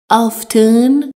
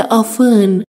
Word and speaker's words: often: دوستان توجه کنید، often رو گاهی اوقات به صورت often، یعنی همونطور که نوشته میشه، میخونن، اما بیشتر حالت often معمول هست، پس هر دو تلفظ درست هست.